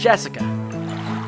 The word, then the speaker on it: Jessica: the same kind of weird name you see that is pronounced jessica she's dad's oldest brother's